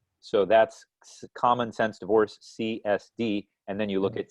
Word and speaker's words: SIËSDE: friend Darren Gingras from C's D I keep pronouncing it wrong how do I pronounce it CSP CSD right because and I just